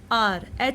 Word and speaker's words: hour: What is the meaning of mute h? Like honest, honest, HONEST, R, HOUR.